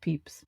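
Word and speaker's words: Pepys: His name is Samuel Peeps, spelled P E P Ys, but it's pronounced Peeps.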